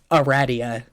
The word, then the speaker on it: Aradia: It is pronounced Aradia. Unless that is Aradia, in which case it's wrong.